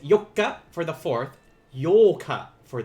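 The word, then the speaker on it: ようか: eighth that is correct yoka uh this one can be tricky because uh depending on how you say it do not confuse yoka with yolka they are different uh this is where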